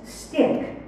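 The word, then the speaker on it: stich: lexicon the definition for s-t-i-c-h pronounced stick one in poetry a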